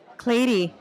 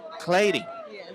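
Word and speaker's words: Cleiri: now we're sitting with clady a new artist clady I like that Clayton how do you spell that c-l-e-i-r-i and you pronounce it like lady but with the c really awesome so go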